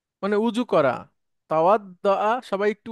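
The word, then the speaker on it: توضأ: তাওয়াদ্দা, সবাই একটু উচ্চারণ করে নেবেন প্লিজ, একটু কঠিন উচ্চারণটা।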